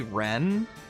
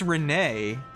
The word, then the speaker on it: Rene: Did you just call Renee Ren? Did I hear that right? Because that's not right. His name's Renee.